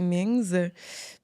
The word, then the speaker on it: Mings: C'est que je pense que en mandarin, il n'y a pas de prononciation de la lettre S, si je me trompe pas. Fait que non. si c'était asiatique, ce serait Ming. Ouais. Ah. Fait que là, c'est Mings.